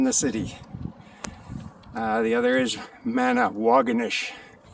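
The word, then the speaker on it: Manawagonish: The other is Manawaganish. Which rhymes with Doganish.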